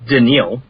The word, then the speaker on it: Danielle: round we picked up Danielle Hunter it's actually pronounced danial denil yeah apologies I'm I'm only good at